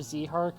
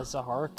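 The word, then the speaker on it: Zihark: between recordings finally uh it's pronounced either either zee heart or a zahark so because either one works i'm gonna be saying zahark more often than not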